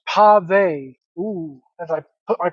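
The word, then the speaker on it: pavé: The necklace, the pave necklace, it's pronounced pave.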